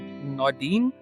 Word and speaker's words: Naudin: Is it Naudin? How do you pronounce it?